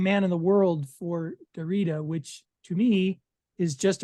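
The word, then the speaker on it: Derrida: in the world for Dorita which to me is just appropriate in a number of ways isn't it pronounced derida oh probably I don't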